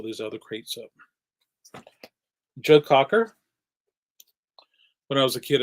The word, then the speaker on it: Cocker: When I was a kid, I used to think it was Joe Crocker. And I don't know why. We must have had somebody in the neighborhood and their last name was Crocker. And I said, they're not saying it right on the radio.